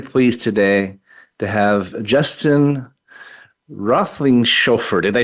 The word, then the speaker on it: Roethlingshoefer: Very pleased today to have Justin Roethlingshoefer.